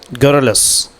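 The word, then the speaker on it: garrulous: Okay, some cultures are more गर्लस, गर्लस जो है इसका प्रोनाउंसिएशन होगा दोस्तों गैरयुला, समझे नहीं, क्या प्रोनाउंसिएशन होगा? गैरुलस, गैरुलस, समझ में आ रहा? गैरुलस, गैरुलस, गैरुलस बोलते हैं बहुत ज़्यादा बोलने वाले।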